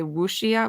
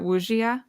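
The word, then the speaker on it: wuxia: this pronunciation it's like i want to say wushia wujia which w u w-u-x-i-a i think yes that's probably the way that we would americanize it with a k um and then um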